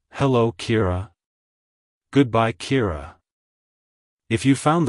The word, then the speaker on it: Kira: it's pronounced as kir Kira Kira to pronounce it correctly emphasize the e e sound and roll the r slightly like hello Kira goodbye Kira if you